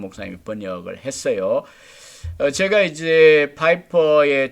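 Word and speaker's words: Piper: 이럼 낯설고 제가 이제 독일 사람으로 독일 출신인가 보다 어쩜 p 퍼 이렇게 생각했는데 파이퍼 라고 발음한다 고 있더라구요 그 시절 볼 수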